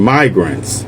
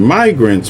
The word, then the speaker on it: migrants: Richard Lowry, not tagged here, Nacha, obviously got crossed up between immigrants, short I, and migrants, long I. Started mispronouncing migrants with the short I, instantly corrected himself with no embarrassment.